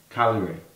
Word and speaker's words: Cagliari: Chievo kind coyote only Cal Calgary tell you it's silent G yep why do you don't know silly confusing me calorie vs.